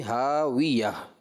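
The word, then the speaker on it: هاوية: طرح پڑھ دیا فَأُمُّهُ ہاویہ. ہاویہ نہیں پڑھیں گے اس کو، فَأُمُّهُ ہاویہ، واؤ پہ ہونٹ گول ہوں گے، ہاویہ. ٹھیک ہے، اور وقف میں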